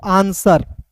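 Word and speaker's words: answer: तो डब्ल्यू के बाद दोस्तों यहां पे आर आया। तो यहां पे डब्ल्यू साइलेंट होगा। आंसर आंसर नहीं पढ़ते हैं। इसे पढ़ेंगे दोस्तों आंसर। देखिए आंसर। ठीक है जी। ए एन एन एस का स आर का र डब्ल्यू का साइलेंट यहां पे करेंगे आंसर हो जाता है।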